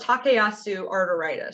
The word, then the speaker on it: Takayasu arteritis: Let me show you so you can see how it's spelled too. It's called Takayasu arteritis.